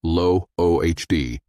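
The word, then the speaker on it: לא עוד: Lo-od is pronounced lo-ohd. It means no more or never again.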